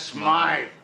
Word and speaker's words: Smythe: Smith is closing up his shop. That's Smythe. There you got it. The creep called him Smythe. He knew how to pronounce his name.